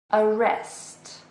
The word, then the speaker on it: arrest: Arrest. Arrest. So this is a verb. It has 2 syllables and we stress the second one.